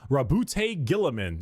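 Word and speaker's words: Roboute Guilliman: Rabbout Gillaman. That's how Yeah, that's how it's said.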